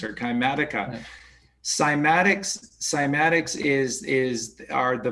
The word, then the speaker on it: cymatics: cellular level is called cymatics or some people pronounce it like a k kymatics or climatica cymatics cymatics is is are